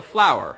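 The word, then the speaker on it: FLWOR: of what's called a how would you pronounce this yeah it kind of works kind of me all right it's a flower expression so all these acronym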